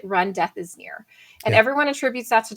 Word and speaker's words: Remdesivir: term uh you know how do you remember to say it it you pronounce it run death is near and everyone attributes that